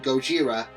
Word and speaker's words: Gojira: black and white also I call the original Incarnation Gojira as that's how they pronounce his name over in Japan another incarnation I refer